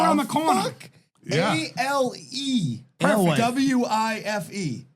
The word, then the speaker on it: Alewife: Alewife. W-I-F-E. It's Alewife. Our Life.